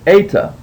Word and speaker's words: eta: It is a vowel, and it's the letter eta. And it sounds like the E in obey. So anytime you see the letter eta, you know that it's going to make an A sound, like a long A sound. So with the alpha you have a, with the epsilon you have e, with the eta you have the A sound, and as in obey.